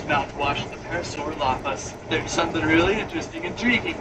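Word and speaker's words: Parasaurolophus: I like the body shape of the parasaur lapas. I'm saying it so well today. I'm actually saying it correctly. Most of the time I always throw in an extra lapodas.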